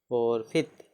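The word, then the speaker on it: forfeit: ठीक, देखिए अब नेक्स्ट है, कुछ अन्य वर्ड जिसमें ई आई का उच्चारण ई ए इत्यादि होता है। जैसे एफ ओ आर एफ ई आई टी, फोरफिफ्थ, एफ ओ आर एफ ई आई टी, फोरफिफ्थ, फोरफिफ्थ मतलब अर्थदंड।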